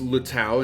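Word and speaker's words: 綠島: So, Green Island, pronounced Luttow in Chinese, is a tiny piece of volcanic land found in the Pacific Ocean, roughly 33 km off the coast of Taiwan.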